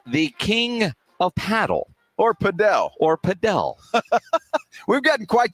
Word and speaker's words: padel: I was like well how do you say and she's like well if you want to be right pel if you just want to be you know an American goofball go king of paddle paddle yeah yeah mhm